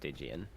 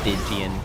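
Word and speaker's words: Stygian: already but L yeah stigan like the river sticks stick sticks that's not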